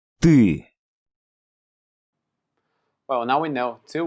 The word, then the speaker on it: Ты: Ты. Ты.